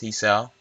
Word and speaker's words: Hisao: I think it's Hiso. It's Hisao.